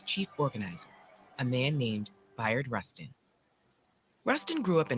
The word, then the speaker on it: Bayard: I was calling him Bernard or Byron, but it's Bayard Rustin.